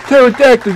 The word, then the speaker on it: pterodactyl: can't you hear the pterodactyl using the bathroom because the pee is silent get it the pee